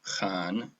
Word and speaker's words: Han: The Han, or Khan, as would be closer to how it's actually pronounced, are named for the ancient Han Dynasty.